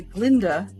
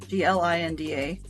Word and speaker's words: Glinda: They take the Glinda, Glinda, from Wizard of Oz, and they make it be Galinda, which eventually gets changed to Glinda, simply because the Elphaba